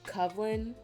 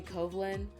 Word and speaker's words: covin: my username it is how I pronounce it it's covin um a lot of people say kovin I am fine with either way um I got my